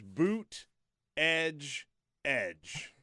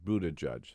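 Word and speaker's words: Buttigieg: you seen the shirts No so it says boot edge edge that's how he's rooted edge well I remember when he was in here he basically said booted judge yeah I think I think we're fine I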